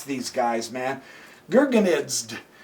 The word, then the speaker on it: Gurgenidze: Now, his opponent, hard to pronounce these guys, man. Gurgenidze. G-U-R-G-E-N-I-D-Z-E. Gurgenidze.